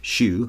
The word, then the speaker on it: Hsu: for four more Stephanie Shu so Hsu but pronounced shoe for best supporting actress